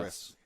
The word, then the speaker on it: Gris: which is I thought it was pronounced Gree. but Gree. it's No, Gris.